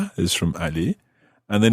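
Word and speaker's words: allez: do you spell that a-l-l-e-z is Ali a-l-l-e-r good okay they sound exactly the same Ali he said Ali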